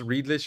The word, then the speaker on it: Redlich: I mean, they have like a Thai flavored rice chicken bowl, but Forlin says Redlich is not a German name. I believe it's pronounced Riedlich in German.